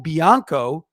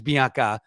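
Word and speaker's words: Capobianco: and then Kyle cppo biano actually it's Bianca sorry it's not biano we all were mispronouncing it last year got to work on our Italian but the fact is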